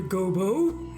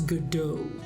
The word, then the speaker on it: Godot: with you the prosecutor gobo it's not Gobo it's Godot your honor in any